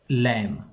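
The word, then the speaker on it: lamb: अ लैम hunted आ लैम एक मेमने का शिकार किया लम का मतलब होता है मेमना भीड़ के बच्चे को मेमना कहते यहां पर बी साइलेंट है इसे हम लम पढ़ते हैं हंट का मतलब होता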